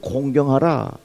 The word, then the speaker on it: 공경하라: 이 발음 잘해야 됩니다. 공격하면 안 되는 겁니다. 부모님을 어떻게? 공경하라. 또 발음 잘해야 돼요. 부모님을 곤경에 처하게 하면 안 되는 거예요.